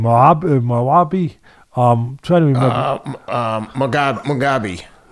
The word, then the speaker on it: Mugabe: How do you pronounce his name? I want to say it right. Mugabe.